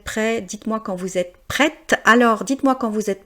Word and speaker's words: prête: J'ai besoin de dire prête parce que c'est pour mettre la différence entre le masculin et le féminin.